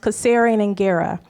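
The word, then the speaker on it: Kasserian Ingera: So um the those two words are um pronounced caserian and ggera and it means how are the children.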